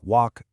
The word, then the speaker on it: walk: And that L totally vanishes in words like walk, talk, or palm.